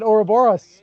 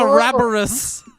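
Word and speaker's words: ouroboros: that word you really I always said oroboros but I guess I'm pretty sure it's a rabarus fighting its own tail I gotta reread that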